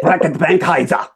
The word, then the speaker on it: Reckitt Benckiser: Reckitt Benckiser.